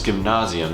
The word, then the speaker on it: Gymnasium: paying jobs but then the final level off is give nauseam and yes that's spelled exactly like gymnasium and no unfortunately going